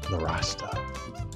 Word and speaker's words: Nowrasteh: Intro for Cyrus Nowrasteh.